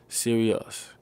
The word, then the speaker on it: Sirius: names come from okay serious pronounced serious it's the brightest star